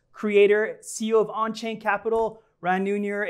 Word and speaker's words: Ran Neuner: Crypto Trader's host, creator, CEO of Onchain Capital, Ran Neuner. It's a pleasure to have you, my friend. Thank you very much. Did I pronounce it correctly?